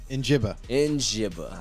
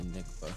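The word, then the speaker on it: Njigba: I always butcher the name. Njibba. I was going to say Nickba. I was going to be off again.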